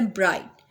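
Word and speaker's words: bright: अब एग्जाम्पल में हमारे पास है ब्राइट। अब ब्राइट के अंदर हम GH को प्रोनाउंस नहीं करते, BRIT बोलते हैं ब्राइट।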